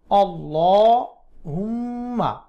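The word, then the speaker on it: اللّٰهُمَّ: লামের খাড়া জবরটি মুখ গোল করে মোটা করে উচ্চারণ করবেন আল্লাহ হুম্মা ইন্নি হামজা জের নুনের তাসদিদ ওয়াজিব গুন্না ইন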